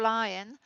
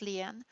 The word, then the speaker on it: Lyon: and I oppose Lyon. We pronounce our name as Lyon, not Leon.